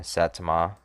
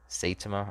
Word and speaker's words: Saitama: germany versus italy germany versus italy location uh satoma saitama i gotta look up the definition i got